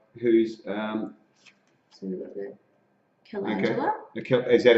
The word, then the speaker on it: calendula: So if you've just joined us, I'm talking with Katey from Raspberry Bub, who's so we've got the calendula. Okay. Is that how you pronounce it?